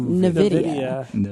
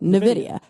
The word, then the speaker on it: Nvidia: I said Nidia because it's spelled Nvi Dia A. So I was like, okay, Nvidia. And then I looked it up and it was like it's pronounced Nvidia.